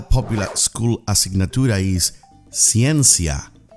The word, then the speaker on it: ciencia: school a signature is ciencia science CN SIA repeated with me ciencia that's correct that is